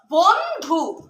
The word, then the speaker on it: বন্ধু: এই দন্ত নটাও ন এর মতো উচ্চারণ হবে না, কিন্তু ন বলবো না জোরে করে, শুধু বন্ধু।